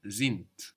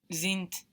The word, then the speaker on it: sind: So we have the S pronounced like a Z there, and the D on the end of the syllable pronounced like a T.